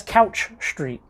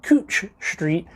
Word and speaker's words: Couch Street: they're like, oh, that's Couch Street. Well, the locals pronounce it Cooch Street, and you know, the locals will be like, oh, where are you at?